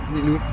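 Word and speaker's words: Leelou: Qu'est-ce que t'en penses, Lilou?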